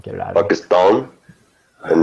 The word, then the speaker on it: Pakistan: me because she's like, you don't even say it properly because you say Pakistan, ta, like that. And it's not ta, it's ta. Pakistan. But I grew up saying it the wrong way and I can't get it out of me.